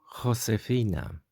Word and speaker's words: Josefina: Me llamo Josefina. Me llamo Josefina. So you can see this H is pronounced a bit like with a bit of a flame on the back of the throat, I would like to call it.